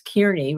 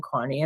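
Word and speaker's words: Kearney: So then he again in my view purposely mispronounces the aid aid's name uh as Kierney rather than Carney.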